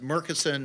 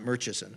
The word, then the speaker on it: Murchison: It's pronounced Creighton, I was told, just like it's Murchison, not Murchison.